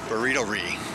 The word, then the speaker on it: Burritorie: and right below it is the burrito e burrito re that's how you say it burrito right beside